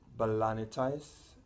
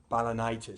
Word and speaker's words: balanitis: infected this is known B'Elanna ties no balanitis sorry my pronunciation you also have